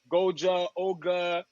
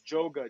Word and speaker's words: Djoga: a moment of frustration people will be saying my name wrong don't go and say my DJ name wrong because a lot of people say my DJ name wrong it's like um Goa ogga my friend is joa just think j o g a but there's a reason